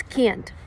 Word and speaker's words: can't: It's can't. And you know why? Because people don't pronounce T at the end of this word.